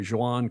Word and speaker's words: Joan: And Joan, that's a Catalan name, so those J's are in Catalan are pronounced almost like an English J. Joan Cardona.